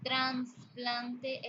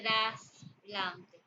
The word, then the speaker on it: trasplante: vez de decir aficción o decir transplante en vez de trasplante o trastorno en vez